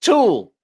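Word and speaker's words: Tule: It's pronounced tool. The E is silent.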